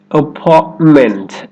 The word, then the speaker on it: apartment: Try another one with me. Apartment. Apartment. Instead of apartment, apartment. Apartment. I love my new apartment.